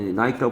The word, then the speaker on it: Nike: 나이키, 나이키라고 발음해야 되네요. 나이키라고 발음해야 되네요. 나이키, 헷갈려요. 그리스 여신 나이키를 특징으로 해요. Holding an olive wreath 이렇게 돼서요. 화환이래요. 올리브 화환 같은 걸 들고 있는 니케.